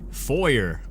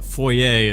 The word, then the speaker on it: foyer: we are in the foyer or as the Americans say it for I think both are technically correct but FOIA is how you're properly supposed to pronounce it and I don't know